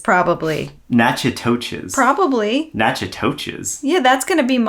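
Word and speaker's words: Natchitoches: There's a T. You're missing the T. You're skipping the T Hey, completely. people- Nachitoches, probably. Nachitoches.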